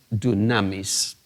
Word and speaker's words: dunamis: En griego, la palabra autoridad se pronuncia exousia, y la palabra poder es dunamis.